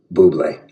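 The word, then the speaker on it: Bubly: Today is the day I can tell the world it's pronounced Buble.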